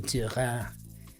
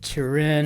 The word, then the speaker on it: Turin: I always want to give that a French pronunciation, Turin. But Turin, and I think we're